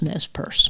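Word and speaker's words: Nez Perce: and that's how they pronounce it because it's a French word the French gave the name to them that's how I was taught in New York you're supposed to call it but I did go and do some research just on this little tiny bit with the NZ purse and even the tribe call themselves NES purse NES purse and uh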